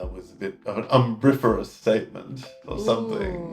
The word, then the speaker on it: umbriferous: This one is umbriferous. Umbriferous. Umbriferous? And that means providing shade. Ooh, yeah. And let's just double check I'm saying that one correctly. Umbriferous. Yeah, umbriferous. Umbriferous.